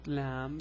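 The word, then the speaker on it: لام: curve under the guideline this letter is called Lam the pronunciation is La it's L it's like the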